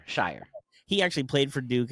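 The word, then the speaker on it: Scheyer: Shire.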